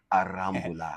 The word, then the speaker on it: Aramula: And I got my co-host here, Gabriel Aramula, because I'm going to start pronouncing it properly from now on as if I was in Spain. Aramula.